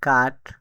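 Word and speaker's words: cut: সি ইউটি কাট এস ইউ এন সান। এর এই ওয়ার্ডগুলোতে ইউ এর উচ্চারণ আ হয়েছে।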